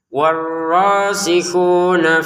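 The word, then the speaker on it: وَالرَّاسِخُونَ: Warrihuna fil ilmi yaquuluna amanna bih. Nah warikun rnya ditekan ya.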